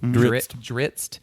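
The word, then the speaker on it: Drizzt: And there have been people like, wasn't Drizzed? Dritzt? Is that how that's pronounced? Yeah. Dritzt. Like the cracker.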